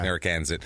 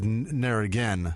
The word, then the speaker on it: Narragansett: Okay. Narragansett. I thought you said Narragain. And I was like, they named it like Narragain.